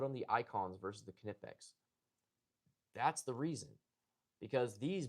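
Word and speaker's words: Knipex: It is Kipex, not Nipex. I thought it was Nipex for the longest time. It is not. It's Kipex.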